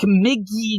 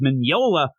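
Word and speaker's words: Mignola: there and like oh Hellboy by Mike McGee I could never do it I would never do that but it's Mineola and I know that now because we have the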